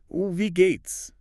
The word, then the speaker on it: wie geht's: The W sounds like V. The I sounds like E. The Gates has a long E sound and ends with that dead sound, wie geht's.